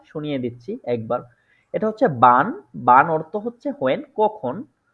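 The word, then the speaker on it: wann: দিচ্ছি একবার এটা হচ্ছে বান বান অর্থ হচ্ছে হোয়েন কখন ঠিক আছে এটা হচ্ছে কি বান ঠিক আছে আমরা জানি যে ডোয়েসরা ডব্লিউ টাকে ভে বলে যার কারণে এটা বান আমি এখানে উচ্চারণটাও লিখে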